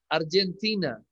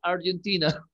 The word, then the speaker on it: Argentina: En inglés se pronuncia Argentina. En castellano es obvio que es Argentina. ¿Sí? Pero en inglés es Argentina.